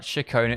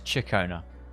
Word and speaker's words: Ciaccona: Not Shakona, it's Chicona.